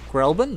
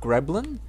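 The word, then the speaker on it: Grelbin: actually pointed out J isn't it grelin not rein and it's spelled g e g r e l b i n not g r e b l i n I'm and I went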